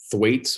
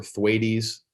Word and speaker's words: Thwaites: Yeah, so this we're talking about the Thwaites or Thwaites glacier. I've heard it pronounced both ways.